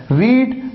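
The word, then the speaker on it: read: आपको ध्यान देना है, स्पेलिंग सेम होती है सेकंड और थर्ड फॉर्म की, लेकिन प्रोनाउंस करने का तरीका डिफरेंट होता है। आप प्रोनाउंस करते हैं रेड, रेड, जैसे रेड कलर।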